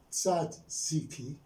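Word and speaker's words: tzatziki: i sat z and they pronounced like this sad sat one syllable c another syllable c and key so this word has three syllables now this word sat sikhi is a means a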